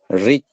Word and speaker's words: read: Read. Así es, Wilson. Entonces, se escribe igual, pero la pronunciación es distinta. Uno es read en presente y en pasado es read, ¿sí?